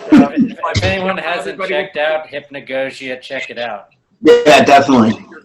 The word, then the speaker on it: hypnagogia: i was just like i don't think i'm pronouncing that right you know so i checked it and i was like no it's hypnagogia but yeah that i don't i can't [